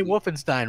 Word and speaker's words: Wolfenstein: just like you say Wolfenstein wrong no big deal I like Wolfenstein I'm trying to say Stein shine yeah like a Stein like Bernstein yeah ball Bernstein I